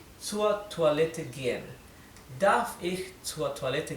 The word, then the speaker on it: Toilette: Entonces esta OI se lee como en francés, toi, ¿bien?